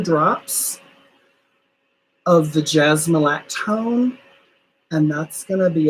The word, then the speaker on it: jasmolactone: The jasmolactone, JASMOLACTONE. It is one word. It's like jasmine lactone, but jasmolactone.